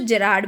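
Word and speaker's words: Gerard: इसको बच्चों जेरार्ड भी कई लोग पढ़ते हैं, वैसे गेरार्ड तो इसकी करेक्ट प्रोनाउंसिएशन है ही, लेकिन जेरार्ड भी गलत नहीं कह सकते, क्योंकि नाम है, नाम में कुछ हो सकता है।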